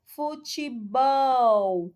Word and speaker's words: futebol: Letra B, futebol. Correto, né, gente? O bol é a sílaba tônica, então aí está marcadinho correto, né?